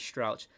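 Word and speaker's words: Struijk: strauch i've even youtube i've googled it how to pronounce my name is strout with robin cox that's how you say it at the center back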